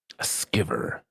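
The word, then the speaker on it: Sciver: I think it's pronounced Skiver. Skiver. Ethan Van Skiver.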